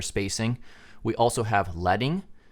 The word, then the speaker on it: leading: referred to as letter spacing we also have letting not to be confused with leading it's pronounced letting and that's a space between lines of text